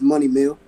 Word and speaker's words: Moneymeil: I butcher your name is it money meal or money mail or how do you say that it's money meal money meal and where'd you get